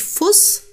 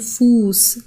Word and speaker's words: Fuß: der Fuß okay also man sagt nicht Fuss z.B sondern Fuß das wird länger ausgesprochen der Vokal draußen grüßen